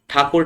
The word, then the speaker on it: ठाकुर: रविन्द्रनाथ टैगोर कैसे कहने लगे, ठाकुर ठाकुर ठाकुर ठाकुर ठाकुर ठाकुर ठाकुर टैगोर टैगोर टैगोर टैगोर टैगोर कहने लगे। समझ रहे हैं ना, पहले नाम ठाकुर था लेकिन टैगोर सा प्रोनाउंसिएशन करने लगे।